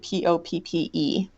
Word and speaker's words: Poppe: Again, it sounds like the poppy flower, but it's spelled Poppe.